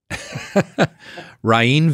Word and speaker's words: Rainn: It's like, well, it's Rain, R-A-I-N, right?